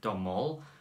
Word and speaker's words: Domhnall: I don't know how to pronounce his first name. It's Domhnall.